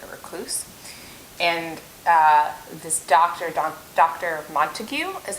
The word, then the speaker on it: Montague: Montague is how I pronounced it when I was reading it. I don't know if that's the proper pronunciation, but anyway, doesn't matter. Yeah, Montague, like the House Montague.